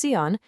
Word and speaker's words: Seon: It's pronounced seon and understanding what it represents is our first key.